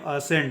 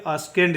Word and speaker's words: ascend: बाद आया है तो सी क्या होगा? साइलेंट होगा। और ASCEND का उच्चारण हम लोग करेंगे असेंड। इसका उच्चारण करेंगे असेंड, ना कि अस्केंड। इसका उच्चारण होगा, इसका उच्चारण होगा असेंड।